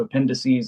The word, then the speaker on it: appendices: So appendices like appendix.